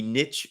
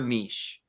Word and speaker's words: niche: looked it up and pronunciation can be niche or niche so both work both are i do the same thing